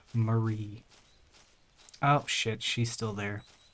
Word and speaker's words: Marie: Well, you will be missed, Mary. Why did I say her name that way? Marie.